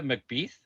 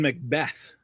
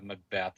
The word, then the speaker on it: McBeath: It is Macbeth. Okay. It's a Shakespeare play. Yeah, okay. Um so it is pronounced uh Macbeth. I I thought so, but you would think McBeath with an EA, but hey.